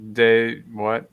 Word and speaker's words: De Vrij: How do you pronounce that old defender's name? De Vrij.